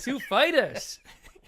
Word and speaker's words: Foo Fighters: Is the accent on the Foo or Fighters? And he said, that's a good question. It's on Fighters.